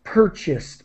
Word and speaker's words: purchased: So try not to pronounce the A. It's purchased, more like an I sound.